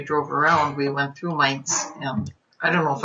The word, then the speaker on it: Mainz: oh have fun yeah m-a-i-n-z would be mines you would be saying it right and then um robert's